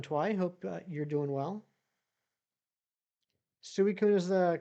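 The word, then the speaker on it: Suicune: Suicun is the correct pronunciation. Let's trade the rare cards. The same rarity. Dang it. Exactly, Amry. I would gladly trade you a Suicon.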